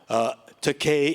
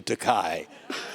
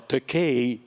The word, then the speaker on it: Takei: i told him take rhymes with okay to help him memorize and he says you know takei is definitely okay compared to takai and i told him well takei doesn't mean cheap either